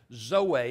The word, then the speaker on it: zoe: It's the Greek word zoe. It's Z-O-E. And people pronounce it different ways. I was taught that zoe, if you're from southern Alamance, you may call it zoe, but it's actually closer to zoe.